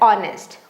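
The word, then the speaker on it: honest: यहां H silent है। इसीलिए इसे ओ जैसे पढ़ा जा रहा है। ऑनेस्ट honour.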